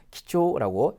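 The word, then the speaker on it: 貴重: 대부분이 주를 켭니다 근데 여기서 귀중할 때는요 퀴즈 1번이 아니라 기초라고 2번으로 읽으셔야 됩니다 그래서 중자가 대부분 지우로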